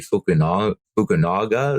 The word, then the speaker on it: Fukunaga: director, but they ended up going with Cary Fukunaga. Is that how we decided to pronounce it?